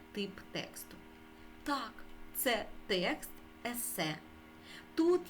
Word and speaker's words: есе: основна будова тексту ессе слово ессе прийшло до нас із французької мови тому наголос ми ставимо на останньому складі есе наступна вправа прочитай те